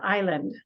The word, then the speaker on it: island: so that word is Island kind of looks different because the I and the L look the same but we don't say the S so we say Island even we also say